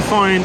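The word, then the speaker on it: whio: is where you can find a rare bird called the F it's spelled whh IO but in Mari uh wh is said f so it's fi um and they love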